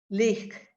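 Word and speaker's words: לך: Leek, like a Leek. leek that you buy in the store to cook with, but you got to give it that CH sound at the end. Leek, leek. Lech.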